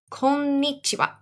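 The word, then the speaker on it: こんにちは: a go konnichiwa konichiwa the most important thing you want to remember is that there are two ends there and when you see two letters like that that are the same in japanese so you want to make sure that you add a little pause so konnichiwa all right next we're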